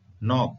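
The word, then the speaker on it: knock: में के साइलेंट है नॉक नॉक का होता है घटाना स्पेलिंग में के का उपयोग हुआ है परंतु उच्चारण में क साइलेंट है डी को देख देखिए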